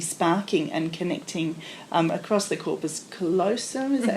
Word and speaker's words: corpus callosum: The whole brain, there's all these connections would be sparking and connecting across the corpus callosum, is that how you say it? Mm-hmm. Across the corpus callosum and connecting a whole lot of connections in the brain.